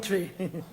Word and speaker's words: Twi: name yeah man it spelled twi but it pronounced tree i want good language